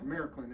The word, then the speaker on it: Märklin: started getting into doing Markland, or Märklin if you're German. Märklin's the correct pronunciation, but but I'm Southern, so it's Markland.